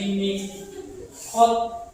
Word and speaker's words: miqat: Iram dari dari miqat. Walaupun tulisannya mikat tapi dibacanya miqat pakai.